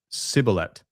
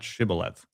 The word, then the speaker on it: Shibboleth: Ultimately, from Hebrew, torrent of water from the use of this word to distinguish one tribe from another that pronounced it Sibboleth, not Shibboleth.